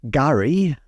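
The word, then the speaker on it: K'gari: Apparently the name is pronounced Gurri, the K is silent.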